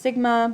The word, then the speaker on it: sigma: This is pronounced sigma, but it is, it means summation.